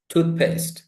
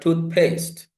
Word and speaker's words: toothpaste: Toothpaste. It's not toothpaste. Toothpaste.